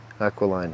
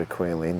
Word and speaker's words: aquiline: how to pronounce this aqualine nose cuz I've always had aquine that's not right aqualine it should have a curve to